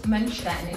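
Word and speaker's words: Mönchstein: First, teach me how to pronunciation, because I say Mönstein. How you say it right? We say hotel Schloss Mönstein.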